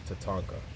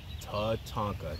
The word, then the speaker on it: Tatanka: will let it sign but this is a Tatanka I just want y'all to know one more time Tatanka t a t a n k a Tatanka you hear it first my friends